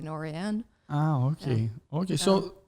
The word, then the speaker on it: Norén: Yeah, I mean, all American Norens really say Noren with the emphasis on the first syllable, and it's a Swedish name. So the few times I've been to Sweden, then they say Norén.